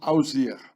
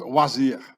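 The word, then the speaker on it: Osiris: by the hieroglyphs wsr they only wrote down the consonant you can see that here already told you that pronounced wasir the name of oziris was pronounced oir well he had many names and he was also called wazir The Spine of oziris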